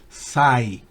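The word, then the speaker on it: sigh: to say significa suspirar fíjense que la gh no se pronuncia para nada sai la siguiente Sign la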